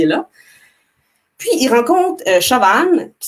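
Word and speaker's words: Siobhan: Puis, il rencontre Chauvan, qui s'écrit S-I-O-B-A-H-N, c'est un irlandais, fait que ça ne se prononce pas comme ça s'écrit, puis vice-versa.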